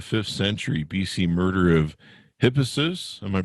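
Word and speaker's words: Hippasus: back from the fifth century bc murder of hippessus am i pronouncing that oh yes yes yes i say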